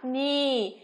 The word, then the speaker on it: knee: có từ knee nhá, knee. Và từ thứ ba, gõ cửa chúng ta có từ knock nhá, knock. Chú ý không được phát âm là gì các em? Knife, knee và knock nhá.